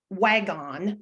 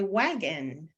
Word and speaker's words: wagon: common places for it so schwa is like we don't say um wagon I'm gonna load up my wagon and go uh get dirt from the backyard we don't say that we say wagon so the second syllable that second vowel schwa's because schwa says and I always do the hand signals with it uh or E okay it also has to